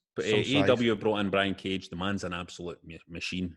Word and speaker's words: Brian Cage: Westy wants to put over AEW for bringing in Brian Cagle. Is it Cagle? Cage. It's just John. Is it how do you pronounce that, John? Is it Cagle? Sorry, it's Brian Cage.